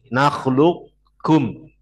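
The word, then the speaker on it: نخلقكم: Nakis itu berarti qafnya masih ada sedikit sifatnya. Yaitu apa? Sifat isti'lahnya masih ada. Jadi bacanya nakhluk, nakhluk, suaranya masih naik dikit. Nakhlukum.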